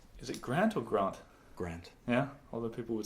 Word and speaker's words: Grant: Grant. Yeah? Although people would say Grant. Well, when I pronounce my name in French, I say Grant, because that's how they say Cary Grant or Hugh Grant.